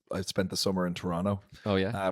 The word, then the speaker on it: Toronto: I remember I this is going back ages ago when I spent the summer in Toronto. Oh yeah, I pronounced correctly for all the Toronto listeners.